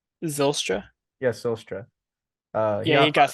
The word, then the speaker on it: Zylstra: the touchdowns was for the Lions was Shane Zostra. I don't know how to pronounce it. Are you trying to say Zylstra?